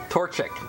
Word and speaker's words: Torchic: up like crazy right Torchic thank you the one I guess I should learn how to say the name of got my starter guy Torchic Torchic tor tor is a torch Sheik a torturer can I